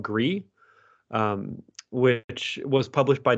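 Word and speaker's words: Gris: one thing i recommend it's it's spelled g-r-i-s i i think it's spanish because it was from a spanish developer but the game is called gree i highly recommend thank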